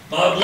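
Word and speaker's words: Bob Ley: Chris is saying that his grandpa's name was Bob Lee, but spelled L-E-Y, and you would pronounce it L-Lay. L-E-Y? Yeah, Yeah, and you would Lay, pronounce it wouldn't it? Lay. Bob Lay.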